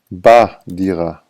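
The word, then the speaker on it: בדירה: get ba Okay so b b plus ha is but so if you want to say I live in the apartment you would have to say Ani gar ba Dira I live in the apartment so Bay and babe and ha together is ba but if you say bedira only it means in an apartment it's unspecific you don't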